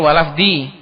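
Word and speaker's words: ولفظِ: fi'un mudori mansubun bilan waamatbihi alfathiru ala akiriun minal wajib diir secara hikayah karena contohnya tadi juga wajib walafdi itu yang benar walafdi bukan walafull minal wajib walafdil jalalati karena atf ke hikayahnya wajib fi mahali jir Maka bacanya walafdi yang benar.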